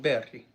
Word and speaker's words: Berg: Oh, okay, so technically it's called Berg, but it's spelled B-E-R-G. It's Berg in English, I guess.